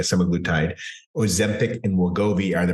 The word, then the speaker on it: semaglutide: So in summary, semaglutide it's pronounced different ways. That's how I've been pronouncing it, semaglutide.